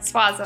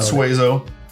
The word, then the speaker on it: Suazo: Swazo. Swazo. Not Suezo. Not Suaza.